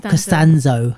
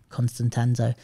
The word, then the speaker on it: Costanzo: Costanzo. It's because Abe messed it up by saying Constantanzo.